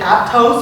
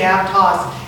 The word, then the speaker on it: Aptos: Because I was made a mistake and said Aptos, and all of a sudden they're going. Apparently you say Aptos.